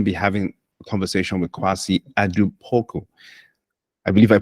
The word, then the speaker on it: Kwasi Adu-Poku: So today we're going to be having a conversation with Kwasi Adu-Poku. I believe I pronounced that correctly.